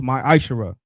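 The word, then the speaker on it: מעשר: Means tenth in the Hebrew, and is pronounced ma'ashara.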